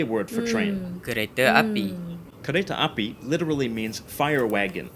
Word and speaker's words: kereta: Final a is usually pronounced as a schwa in Malay, at least in Malaysia.